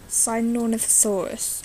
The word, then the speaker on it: Sinornithosaurus: Things like that really interest me, and things like Sinornithosaurus, I believe is how it's pronounced.